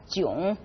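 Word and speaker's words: 囧: now when we use that culture which is pronounced as June we mean feeling embarrassed or frustrated probably the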